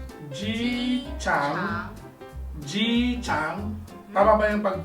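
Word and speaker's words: 机场: Ji-chang. Ji-chang. Tama ba yung pag-pronounce ko?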